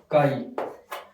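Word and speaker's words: chi: फिर उसके बाद में है काई, ठीक है। ये नाम भी आपको याद रखने हैं और लिखते कैसे हैं। अब काई में सी एच ए चाई नहीं होगा, काई होगा, ठीक है।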